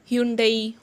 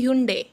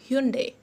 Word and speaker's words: Hyundai: Aap isko Hyundai bolte hai na? Ye bilkul galat hai. Isko pronunciate hum karenge Hyundai. It's Hyundai.